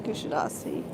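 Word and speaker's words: Kuşadası: they called it kusadasi so when I got here I was very anxious to hear how the locals pronounce it and indeed it's kadasi there goes the pilot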